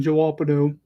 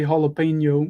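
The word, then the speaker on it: jalapeño: me up when people call them joapado some people actually do try to pronounce it say jalapeno or whatever it is i just call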